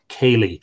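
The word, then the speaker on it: céilí: or going on his Kaylee night visit from place to place. Now, that's spelled K-I-L-E-E, but of course, that is an anglicization of the word C-E-fada, I-L-I-fada, Kaylee, which means a dance or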